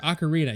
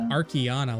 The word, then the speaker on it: ocarina: to say this word ocarina you've learned how to say ocarina okay i thought i always said ocarina no it was ocarina you were saying archaeana last time and then i just